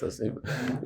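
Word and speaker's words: אסיפה: How do you say asifa? Very good. It's asifa.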